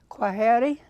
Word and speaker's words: Heri: Please pronounce the name so I don't mess it up. Heri?